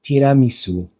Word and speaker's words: tiramisu: And then there's a u, which is pronounced. So tiramisu.